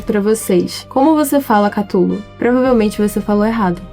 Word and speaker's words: Cthulhu: Todo mundo erra, porque o próprio Lovecraft falou que a boca humana não é feita pra pronunciar isso. Ele mesmo pronunciava algo como Sulu, algo assim.